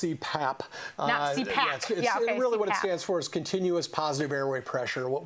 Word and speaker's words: CPAP: public service announcement yeah it's it's pronounced CPAP continuous positive airway pressure